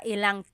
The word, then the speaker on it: ilang: wanted to show you, you can make a contraction again. Instead of mga ilan na tao ang darating, it's mga ilang tao ang darating. About how many people are coming. So that's just a pronunciation tip. Make that contraction to make it flow a little bit better.